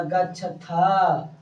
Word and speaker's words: गच्छथ: में ये हो जाएगा गच्छथा। क्या हो जाएगा? गच्छथा। इसमें विसर्ग नहीं होगा, जिससे ह का जो उच्चारण होता है वो नहीं होगा।